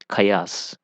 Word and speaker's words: chaos: Cheap, chain, chaos. Chaos. The ch is pronouncing like ka here, so this is different.